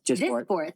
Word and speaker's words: Dysport: We want to talk about, is it Dysport? Is that how you say it? Like fillers? Dysport.